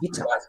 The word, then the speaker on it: Witter: And my surname, as you can see, well, not on the screen, but Witter, Witter, is German. It's pronounced Witter.